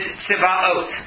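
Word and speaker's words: צבאות: Aleph Vav Taf, which if you read it literally and pronounce it properly is Tziva'ot. The reason I say Tziva'ot is because this is identified Talmudically as one of the holy names of God that is not supposed to be pronounced other than as part of prayer or reading a verse.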